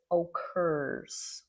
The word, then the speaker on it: occurs: This word here is occurs. Occurs. Okay, pronounce that correctly.